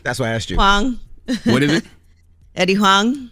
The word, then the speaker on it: Huang: I'm pronouncing Eddie's last name wrong for years. What's Eddie's last name, E? That's why I asked you. Huang.